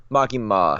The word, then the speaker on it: Makima: Makima. Okay, that's how it's spelled in there.